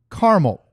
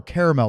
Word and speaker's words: caramel: Okay, we've got the Frosty Swirls, strawberry, brownie batter, and caramel or caramel, depending on how you like to pronounce it.